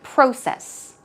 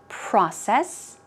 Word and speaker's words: process: In British English, they say process. Process. It's pronounced slightly differently. In American English, it's process, process, process. In British English, it's closer to process, process.